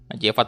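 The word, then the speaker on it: Majefat: Ini bacanya Majevat atau Mayevat nih? Majevat pokoknya ya.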